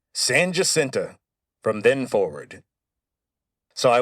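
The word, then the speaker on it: San Jacinto: might look at the name and think it's San Hasinto, but you'd be wrong. As soon as the Texians won the battle of San Hasinto, Sam Houston declared that it would be pronounced Sanenta from then forward.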